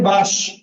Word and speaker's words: বাঁশ: কিন্তু যখন আমি বলি বাঁশ, এই তালবস্যের সাথে কি কোনো স্বরধ্বনি আছে? অ্যান্সার হচ্ছে না। কারণ এই তালবস্যের সাথে যদি তুমি স্বরধ্বনি অ দাও, তাহলে উচ্চারণটা হয়ে যাবে বাস।